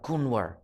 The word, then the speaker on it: Kunwar: The N is a little softer, so it's more like Kunwar.